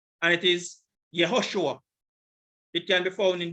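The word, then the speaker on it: יהושע: name and this is the hebrew it is pronounced yahushua or there's a shortened form yeshua and that shortened form can be seen in nehemiah 8 verse 17.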